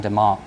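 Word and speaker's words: DeMark: uh a well-known investor Trader Tom Demar uh is is DeMar is the the correct pronunciation but it basically looks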